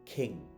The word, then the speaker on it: king: The next word is, আমরা একটু আগেই বললাম, সেটা হচ্ছে আমরা বলি কিং, কিন্তু উচ্চারণটা কি হবে king।